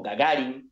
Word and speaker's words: Gagarin: El chiste contaba que alguien llamaba a la casa de los Gagarin, o Gagarin, como me dijo mi amigo ruso, Denis Bayanov, que se pronuncia, Yuri Gagarin, el primer